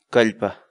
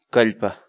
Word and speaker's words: kallpa: de videos en la que te enseñamos a pronunciar algunas palabras en quechua. Así que nuestra palabra del día por hoy es... Calpa. Calpa.